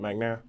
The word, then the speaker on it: McNair: more time i'm sorry magnum middle like ronald mcnair okay magnare yeah you said this